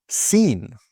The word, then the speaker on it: scene: Now, for the silent C, this often happens before the letter K or in some SC words. For example, muscle. Muscle. Okay, not muscle, but muscle. Scene.